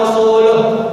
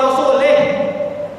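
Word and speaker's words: ورسوله: Atau kesalahan yang berikutnya, ketika kita membaca Annallaha bari'un minal musyrikin wa rasuluh, cuman gara-gara mengganti wa rasuluh menjadi wa rasulih. Akan cuman beda sama itu Pak Ustaz, apa sih bedanya? Bedanya fatal teman. Wa rasuluh dengan wa rasulih cuman beda sama itu kan.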